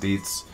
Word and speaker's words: dizi: show you um the deets um spell d-i-z-i but chinese they it's pronounced deets um are pretty much